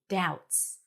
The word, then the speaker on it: doubts: was full of doubts no B doubts full not fo full